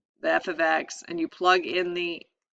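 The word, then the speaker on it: f(x): to see this um a different notation here f ofx is how it's pronounced or how it's stated um it's just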